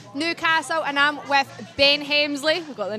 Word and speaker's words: Hemsley: Hemsley.